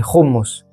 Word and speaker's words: houmous: Et on prononce pas le U, c'est hummus.